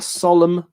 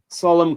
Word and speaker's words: solemn: The two letters I was after were M-N. Those words are solemn, column, condemn, and autumn. Imagine learning English. That's what I was talking about, Team Finland. With hidden letters there.